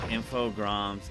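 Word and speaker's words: Infogrames: with that today learned infog GRS is pronounced the French way I know when I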